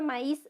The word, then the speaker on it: maíz: palabra ma es ya la palabra maíz se separa en dos sílabas porque porque la vocal i lleva tilde ya y esta palabra termina en una cita ya esta palabra rebelde no le gustan las reglas entonces esta palabra dice no me sílaba tónica es is y llevo tilde no